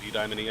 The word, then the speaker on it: Eudaimonia: Yeah, no matter what syllable you put the emphasis on, you're right to somebody.